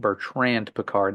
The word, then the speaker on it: Bertrand Piccard: to these people Mr peard Jr over here Berard is that how you say it or Bertrand Bertrand peard there it is so Bertrand peard if I